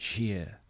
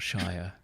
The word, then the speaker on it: shire: the end of it you pronounce it sheer not Shire it's not it's not